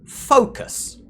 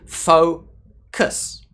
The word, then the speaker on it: focus: Now, this word has two syllables. Focus. Now, you'll notice here that the first sound is stressed, fo, and the second sound, the second syllable here, is unstressed, kus. I don't say focus. That would be very strange in English to do that.